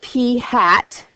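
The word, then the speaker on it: p̂: have we no okay the sample proportion that's pronounced P hat is the best point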